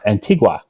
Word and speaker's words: Antigua: the I've inventing de Antigua that said it wrong oh and t and y antigua there we go antigua antigua where we